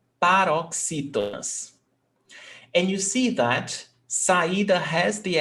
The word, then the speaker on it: saída: Saída, before last. So all these words, they are called paroxytonas. And you see that saída has the accent mark, but rainha doesn't.